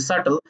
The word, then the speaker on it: subtle: আর সাথে সাথে আপনি হচ্ছে কোনো ওয়ার্ডের প্রোনাউন্সিয়েশন জানেন না, যেমন আমি একটা বললাম যে সাটল, ওখানে বিটা সাইলেন্ট, তো এই কারণে সাটল উচ্চারণ হয়।